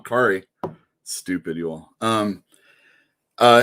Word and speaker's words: Kaare: so uh this this cat carry kari sorry saying it wrong kari stupid you all um